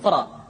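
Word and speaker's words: ر: yakar yadzakar berikutnya adalah huruf ro diucapkan dengan menyentuhkan punggung lidah dengan langit-langit ro ri ru bar Berti latihan berikut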